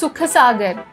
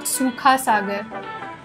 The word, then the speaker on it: Sukha Sagar: Oi, it's Sukha Sagar, not Sukha Sagar.